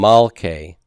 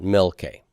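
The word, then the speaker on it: מַלְכֵי: to become pathak okay it's going to become malkei not milke okay malke not milkay so the kings of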